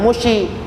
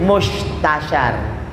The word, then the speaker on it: Mustasyar: Jangan mushi. Mus itu istilahnya pakai sin titik 3 tuh. Jadi mustasyar. Jangan mushi. Mustasyar.